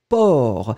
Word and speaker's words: porc: C'est final, on ne le prononce pas, hein, mais on doit l'écrire.